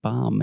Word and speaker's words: bomb: historical facts today and don't say those bees at the end of words like bomb and dumb and plumber okay okay talk to